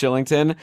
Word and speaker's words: Kylington: guy whose name is spelled kylington but it's actually pronounced shillington and he was like